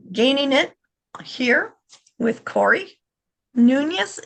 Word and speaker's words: Nunes: it here with Corey Nas is that how you say your last name Corey Nunes but noones I go I go by however somebody yeah pronounces it doesn't matter awesome awesome